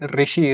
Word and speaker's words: ऋषि: एंड in some parts of India it is pronounce eight रू right ऋषि ऋषि जो word है इसमें यूज़ होता है। तो कोई ऋषि बोल सकते हैं। And some parts can से ऋषि।